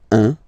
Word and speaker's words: un: All right, so when you combine this u and n, you get the nasal sound un, un.